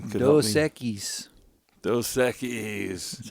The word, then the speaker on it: Dos Equis: Dos Equis.